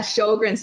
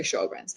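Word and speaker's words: Sjögren's: um does and i don't know how to pronounce it s-j-o-r-g-r-e-n-s sure yeah sjogren's syndrome so that's when um that's dryness in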